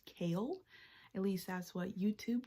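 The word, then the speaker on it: Chaol: titled Royal Guard thing his name is pronounced kale at least that's what YouTube told me so his his name is kale and then we have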